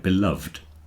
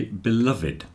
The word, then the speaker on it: beloved: it would sound like beloved oh yeah but we always say beloved with the e pronounced which is unusual it means it's loved